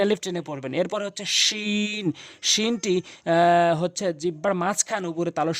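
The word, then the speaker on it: شين: জিম এরপর হচ্ছে হচ্ছে হলকের শেষ থেকে কিন্তু উচ্চারণ হবে এবং তিন আলিফ টেনে পড়বেন। এরপরে হচ্ছেশিন। শিনটি হচ্ছে জিহ্বার মাঝখান উপরে তালর সঙ্গে লাগাইয়াশিন।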